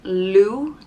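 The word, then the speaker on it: Lugh: god we're going to talk about blue is pronounced like lou and it's spelt l-u-g-h and lou was a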